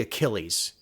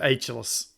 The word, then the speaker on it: Achilles: It was supposed to be Achilles, but he called Yeah, it it said Ageless. Ageless. Like Yeah. kid just lost like $1 million scholarship because he couldn't know. pronounce Achilles.